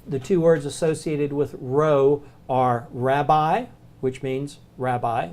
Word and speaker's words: rho: the Greek letter Rho it looks like a pea it's not a pea it's an R sound row but it's made just